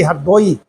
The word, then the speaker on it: हरदोई: हरदेव राजा की पूजा हमारे यहां रा नहीं बोला जाता है। गांव के लोग अभी भी हरदोई अब तो हरदोई कहने लगे ना हरदोई रा साइलेंट कर देते हैं छुपा देते हैं।